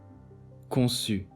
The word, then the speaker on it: conçu: This letter is pronounced as S. Leçon, conçu. CH is pronounced as Ch, as in English word ship.